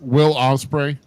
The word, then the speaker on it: Will Ospreay: Ocean Spray or Will Spray or Will Ospreay? Will Ospreay.